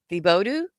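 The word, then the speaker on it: Thibodaux: I'm in the Bodo. The Bodo? How do you say that? Oh, my Louisiana friends are about to lose their mind. The Bodo, right? It's French.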